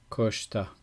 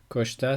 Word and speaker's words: Koshtha: Koshta. Koshta s'écrit dans la façon romanisée, donc anglaise ou française.